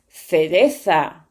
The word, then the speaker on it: cereza: But I have to add something. In Canary Island or in America, these syllables, they read S. So, when they have the C and the E together, they read se. And when they see the C and the I together, they read C.